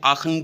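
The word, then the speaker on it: Aachen: ये अपनी दादी माँ यानी कि अपनी ग्रैंड मदर के साथ आशन एक जगह है, इसको हम आशन भी बोल सकते हैं, आखन भी बोल सकते हैं इन जर्मन, बट आपको स्पेलिंग्स इसके याद रखने हैं इस जगह के, आशन.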